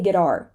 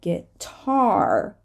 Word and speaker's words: guitar: starts a stressed syllable I can't say guitar right because the T starts a stressed syllable guitar right so I have to add extra air to the T get tar silhouette silhouette here we